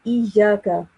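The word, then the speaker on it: إِيَّاكَ: I think you're pronouncing the kaf sound with a thick sound again. Try to pronounce it with a thin sound.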